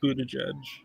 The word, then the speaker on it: Buttigieg: I forgot how to pronounce it. It's Buttigieg. Yeah.